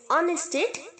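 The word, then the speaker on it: honest: चाहिए okay on ईस्ट ऑनेस्ट ऑनेस्टायड ईमानदारी ईमानदारी इंसान होता है ना ईमानदार ही ऑनेस्टिंग ध्यान रहे ऑनर और ऑनेस्ट दोनों में एड साइलेंट है ओके होप होप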